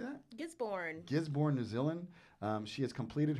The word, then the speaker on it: Gisborne: Gisborne, New Zealand.